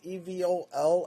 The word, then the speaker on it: Evol: priorly described it as Evol and I spelled it out there but phonetically it is similarly pronounced to evil.